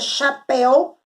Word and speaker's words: chapéu: A sílaba tônica, a sílaba mais forte aí, na palavra anel, nel. E na palavra chapéu, pel.